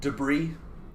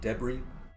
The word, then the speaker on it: debris: it is frequently pronounced debris in British English really just a fancy thing you know but do not pronounce the S that's the key one that's definitely the key